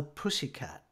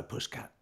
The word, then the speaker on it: pussycat: And I kept saying, hello, pussycat. And they said, oh, no, that's wrong. It's 2 syllables, not 3. So I'll do it again. Yeah. Hello, pussycat.